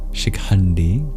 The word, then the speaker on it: Shikhandi: And for the N and D in shikandi, you curl your tongue back in retroflex.